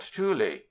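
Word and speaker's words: tule: certain Rivers is quite commonly called Tuli two syllables the earn jar that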